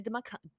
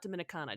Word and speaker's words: Dominica: So, Kirsten or Kirsten Elwin, she is 25 from Orlando, Florida, via Dominicana. Dominica, not Dominicana.